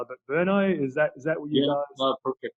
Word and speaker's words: Brno: I know how to spell it, but Brno, is that what you guys?